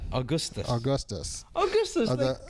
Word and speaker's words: Augustus: Augustus. Augustus. Augustus, the- like an Augie? no, Willy Wonka, the one who fell in the chocolate. Oh, river. okay. Simone Wait, Augustus. Augustus.